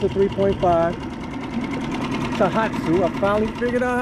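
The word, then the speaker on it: Tohatsu: It's a 3.5 Tahatsu.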